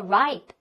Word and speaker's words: ripe: OK, 好了，再往下呢是成熟的，读作 ripe, ripe, 它是一个元辅 e